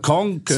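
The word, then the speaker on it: Kånken: Konken. Da ist so ein A, da ist so ein, Konken. So ein runder Kreis über dem A. Das heißt O, das sozusagen.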